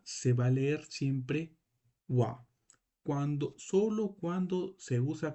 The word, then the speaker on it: は: esto es un Ja por qué tú lo pronuncias como Wa porque aquí este o este Cana no está cumpliendo la función como un Cana normal sino Acá está cumpliendo una función de partícula que nos va a